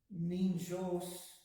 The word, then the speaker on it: ninjos: And ninjos, with these words like that, you pronounce the N at the beginning of the jos and the ni together, so it's ninjos, my friend.